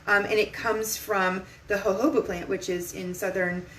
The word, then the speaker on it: jojoba: used to call it jojoba oil because i didn't know that the j's were pronounced like h's so it's jojoba oil um so this